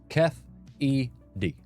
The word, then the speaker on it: Keffe D: It says pronounced Keffe D.